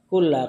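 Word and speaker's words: كل: Kullu apa kula? Boleh dua cara bacanya. Boleh antum baca kullu, boleh antum baca kulla.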